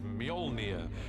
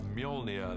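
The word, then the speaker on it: Mjölnir: a hammer is to work out how to pronounce it which is mjolnir uh in our movie at the moment until somebody corrects me i'm sure they will uh mjolnir the hammer this awesome weapon for thor extraordinarily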